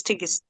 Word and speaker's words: Tigist: uh Dr tigist maybe she can assist Miss tigist uh okay yeah thank you at least you